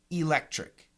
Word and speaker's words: electric: of the word is electric e l e c t r i c electric electric now in that three syllable word the second syllable is stressed so it's electric electric